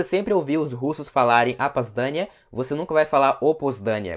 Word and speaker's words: опоздание: Опоздание. Você vê que esses dois Os são pronunciados como se fosse um A.